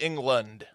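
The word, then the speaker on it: Englund: It's spelled E-N-G-L-U-N-D, so it's like England.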